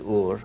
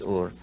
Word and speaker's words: Ur: from a city called Ur or eres many people pronounce it but the true pronunciation is or if he came from